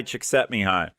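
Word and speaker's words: Csíkszentmihályi: think it's Hungarian and it ends up being pronounced something like me hi chick set me high witch God bless you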